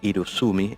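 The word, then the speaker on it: irezumi: Antes del Horinomo tenemos una expresión que bueno, tengo anotada acá para pronunciarla de manera correcta, el irusumi. El irusumi es un tatuaje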